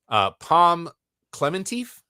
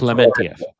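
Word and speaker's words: Pom Klementieff: Who has been announced as well as, I know I'm going to say her last name wrong. Palm Clementif. Is that how you say her last name? Clementif.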